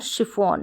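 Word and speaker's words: chiffon: कम spellings होती है जहां पर जो है है श पढ़ा जाए जैसे मशीन में और शिफॉन में तो ये आप ऐसे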